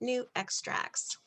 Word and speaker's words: NuXtrax: the new extracts and that's how you pronounce it new extracts so what are the